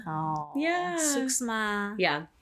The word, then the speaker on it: suksma: Suksma. Oh. Yeah. Suksma.